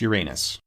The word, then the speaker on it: Uranus: 98 degrees making years and days almost indistinguishable uranus sometimes pronounced uranus question 7 where on the moon did the